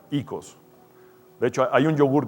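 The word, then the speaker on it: οἶκος: Una es ikia, se escribe oikia, pero se pronuncia ikia, y la otra es oikos, y se pronuncia ikos.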